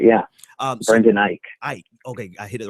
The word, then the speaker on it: Eich: last name Brandon I elk how do you pronounce oh that's right yeah Brendan Eich I ok I hit it right the first time